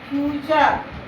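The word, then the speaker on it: future: जैसे फ्यूचर, फ्यूचर, नेचर, कल्चर, सब में यू के बाद RE आ रहा है तो इसको अर पढ़ रहे हैं ना।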